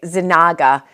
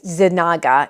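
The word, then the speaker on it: Yznaga: so Consuela um uh her maiden name I pronounce it very terribly but um uh it's y-z-n-a-g-a zanaga I think it's zenaga izanaga um she was the Duchess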